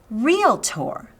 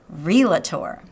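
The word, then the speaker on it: realtor: probably guessed by now today's word is real tour that's right not real a tour real tour how do I know this because the people who are actually in this profession will be quick to point out exactly how it's said it is spelled R EA ll Y P in a right there between the L and the T but there is not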